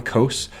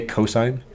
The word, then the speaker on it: cosine: classic cosine I know you write it down coasts but you verbally say cosine it just irks me